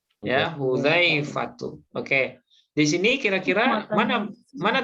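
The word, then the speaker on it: حذيفة: Nah, nama orang ini Zal, Bu. Ini Zal. Ya, Hudzaifatu. Oke. Di sini kira-kira mana taukidnya? Ada. Qa'ada. Ya, qa'ada. Jalasa qa'ada Hudzaifatu ya.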